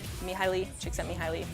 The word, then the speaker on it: Csikszentmihalyi: it yourself that's actually how you say it me highly Csikszentmihalyi he gets me in a flow just to